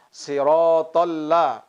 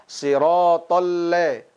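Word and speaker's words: صراط الذين: Pelafasan la harus benar-benar bunyinya fathah, la, sirotolla. Jangan sampai kita membacanya sirotolle, sirotolle. Seolah-olah la tadi berharokat huruf e seperti imalah.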